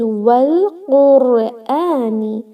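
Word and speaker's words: والقرآن: We will connect this wow to lam and say wal, not al. It is wal Qurani.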